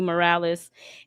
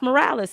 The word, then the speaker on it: Morales: I'm Miles Morales." And he's like, "You mean Miles Morales?" And he's like, "No, Miles Morales." He's like, "Miles Morales, you're supposed to roll your Rs."